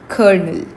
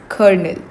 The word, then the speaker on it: colonel: Our first word for the session is kernel. Colonel. You don't pronounce this L. Instead you pronounce it R. So it's kernel. Colonel.